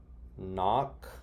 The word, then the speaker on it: knock: think this says mm knock very good she knocks and knit she knits okay and then the other words were so this were these were silent silent kay let's go to silent